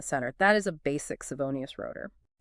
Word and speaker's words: Savonius: We are talking about the Savonius turbine. It is spelled s a v o n i u s.